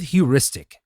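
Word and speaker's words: heuristic: Now, let's start with huristic. And by the way, this is spelled h eu r i s t i c.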